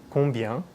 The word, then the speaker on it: combien: Most French people would pronounce this word combien with the nasal sound at the end sounding more or less like très bien, which you've heard me say often.